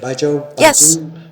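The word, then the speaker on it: baijiu: It's not wine culture, it's spirit culture, but the role of Baijo, am I pronouncing it right? Ba jo has uh it's always been like this big gift thing.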